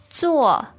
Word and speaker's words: 坐: How do you say that? 坐. 坐. Now, the tone there is The fourth tone.